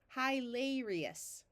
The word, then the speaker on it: hilarious: is also a suffix when you have the letter i I before the letter o or U or a the I usually takes a long e sound that's why this is pronounced is these two syllables are open so we try the long sound first hilarious that almost sounds like